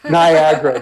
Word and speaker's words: Niagara: that you have where Niagara Niagara there you go rhymes with nevermind yeah okay um I've